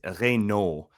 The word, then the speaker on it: Raynaud: "Hey, nice pronunciation, bud," but it's Raynaud, Raynaud for all y'all out here in America.